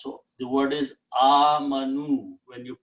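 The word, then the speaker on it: آمَنُوا: Then waw is a sign of being plural, and alif is written but not pronounced. So the word is amanu when you pronounce.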